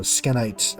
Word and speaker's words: Skenite: that stuff from the skanite skinite skenite they pronounce it skin so skenite uh dungeon the blood